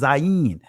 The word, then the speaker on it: zayin: Zion. In the Israeli language, it's pronounced Zayin.